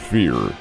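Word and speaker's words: Fehr: TV the lovable Donald Fear. F E HR that he pronounced it fear.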